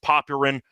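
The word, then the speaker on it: Popyrin: I know that it's technically pronounced Popin, but he doesn't deserve that after what happened today uh yesterday.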